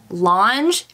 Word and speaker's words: L'ange: L ' ang e longe I believe is how you say that I had to go